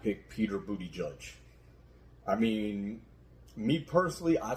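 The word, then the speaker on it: Buttigieg: uh spot is Pete Buddha judge so they can go after the G first of all say his name right when you say it Peter booty judge that's better that's better uh I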